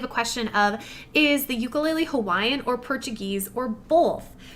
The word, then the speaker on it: ukulele: But the ukulele in itself, or the traditional way and how you should pronounce it, I call it a ukulele, but it should be really pronounced ukulele.